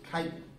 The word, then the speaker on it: chitin: chicken or chicken okay this is one of those few times where CH actually has a K sound so it's like chitin looks like it looks like chicken but it's Titan and another organism that